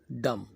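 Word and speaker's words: dumb: कहते हैं और इसे इंग्लिश में हम कहते हैं डम एक दम याद रखिए ताकि इसमें मोरबी में भी साइलेंट होगा ऐसे बहुत सारे ऐसे अलफाज़ हैं जिनके साथ अगर एंव और भी इकट्ठा जाए तो हम बी को साइलेंट कर देते हैं जैसे कि डम कि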